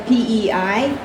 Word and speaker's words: Pei: Last name is Pei, pronounced like pay.